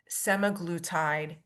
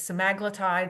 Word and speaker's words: semaglutide: Now I've heard this pronounced a bunch of different ways, semaglutide, semaglutide. I'm going to stick with semaglutide for now because that just seems to flow off my tongue a little better.